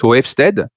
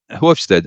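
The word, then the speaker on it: Hofstede: e r t hofstead which I can't pronounce it as Dutch it's hofstead yeah hofstead and he did an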